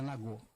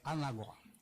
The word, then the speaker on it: Anagó: A pronúncia, né, para o Urubá não é Nagô, é Anagó.